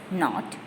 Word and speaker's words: knot: The answer is not. K is silent. K-N-O-T.